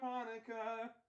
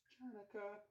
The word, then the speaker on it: Hanukkah: off his harmonica, 'cause it's time for Hanukkah. The sea is silence, it's not pronounced Chanukah.